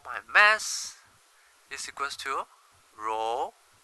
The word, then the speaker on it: rho: will know it right density symbol rho pronounced as rho rho grid work quick words